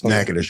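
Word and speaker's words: Natchitoches: It's It's actually Nacadocious, but you know how people from Louisiana always change? Yeah. It's Nackadish.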